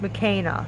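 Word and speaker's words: McKayna: name is mccaina so even though it's spelled m as k e n a it's pronounced mechana so it's pronounced m a k a y n a so it's pronounced that way so it's not pronounced the same way as mckenna so it's not just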